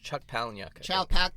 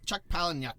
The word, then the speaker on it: Chuck Palahniuk: Chuck Palahniuk. Chuck Palahniuk film where he plays, he's not quite a criminal, but he plays kind of like a Con artist.